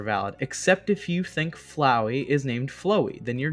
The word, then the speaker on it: Flowey: flowey flow flowy flowery some people i've heard some people unironically called flowey called flowey flowy and i'm like what the hell is wrong with you do you not understand that it's a pun on flower flower flowey flower flower flower flowery flower flowy they're like no bro it's flowy don't you know and it's like no you are wrong i'm sorry everyone has